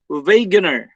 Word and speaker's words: Wegener: good okay so alfred wegener okay so everybody say it once again veganer the w is pronounced as v and it's common for german words okay that's usually for